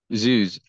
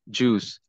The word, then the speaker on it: zoos: Life is a collection of many big zoos, mispronounced at your peril as juice.